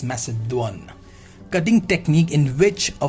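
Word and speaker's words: macédoine: next we have a message one does not mess it down it's message one clear the pronunciation of this is message one cutting technique in which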